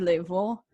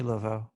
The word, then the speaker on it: Laveau: so no voodoo conversation is complete without mary level god damn it i wish i looked up this pronunciations of these level i think marie laveau thank you i've been i've been to her